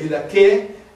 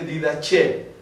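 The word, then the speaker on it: Didache: clásica y la eclesiástica la clásica usa la k en el c did que la eclesiástica dice did Che Así que si escucháis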